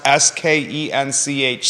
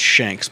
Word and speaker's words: Skench: like Ryo isn't Rio okay that says it's pronounced s-k-e-n-c-h skench he's been in the area for 60